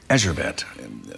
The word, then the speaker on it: Erzsébet: Erzsébet, pardon me, am I pronouncing that correctly?